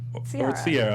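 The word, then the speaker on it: Ciara: Um, no, but the way it's spelled is Siara. Sierra. It's the romantic way to say it.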